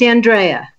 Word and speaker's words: Andrea: Am I pronouncing that right? Is it Andrea or? It's Andrea.